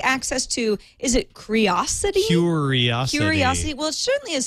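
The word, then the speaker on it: Qriocity: Curiosity. Well, it certainly is spelled weird for me to say Curiosity.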